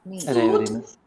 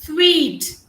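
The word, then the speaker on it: suite: It's not suit. It is sweet.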